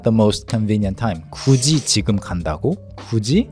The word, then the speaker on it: 굳이: No, not Gucci. 굳이. The pronunciation is similar.